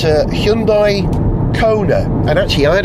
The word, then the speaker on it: Hyundai: In Britain we tend to call the company Hyundai, but the correct Korean pronunciation is Hyundai, so that's the one I'm going to use. Yeah, we've got a Hyundai Kona with a range of around 280 miles.